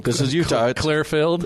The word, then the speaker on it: Clearfield: in this city, of Clearfield. I think you pronounced that wrong. This is Utah. Clearfield? It's Clearfield. Clearfield? Utah's the only place on the planet where Filled is the same word as Field.